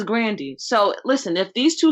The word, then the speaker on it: Grande: out here saying ariana grande's name wrong it's grand it's not grande so who am i it's really grande it ain't grande it's not grande it's grandy but we make it granddaddy